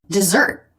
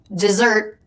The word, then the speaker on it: dessert: That is, it sounds the same, but it's spelled differently from this word, dessert. 2 S's, but still pronounced Z.